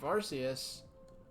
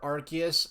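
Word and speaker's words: Arceus: second coming of arus or archus as it's actually as I it's so frustrating because like I've I've seen official sources use both pronunciations arus and archus I know Dr House says arus not that house is Canon but um but in the movie they say it archus and both ways seem equally as used in official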